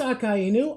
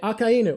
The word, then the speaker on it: Akainu: It is Akainu. I'm not wrong. Okay. I said it that way for so long, and then I got corrected by someone, so I was like, I guess I've been saying it wrong.